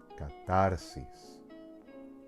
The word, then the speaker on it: catarsis: And catarsis, not catarsis, not catarsis, but catarsis. So if you don't know